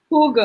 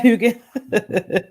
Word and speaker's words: hygge: And, this concept of, how do you pronounce it? Hygge. Yeah, Hygge.